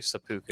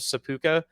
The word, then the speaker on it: seppuku: I think that's how you pronounce it, actually, seppuku.